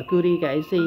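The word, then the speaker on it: 々: Cái dấu này đọc là kuri kaisi ha.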